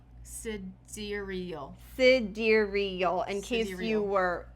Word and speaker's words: sidereal: I've been saying sidereal because that's how it's sort of spelled out. Sidereal. But it's actually pronounced cidurial. Cidural.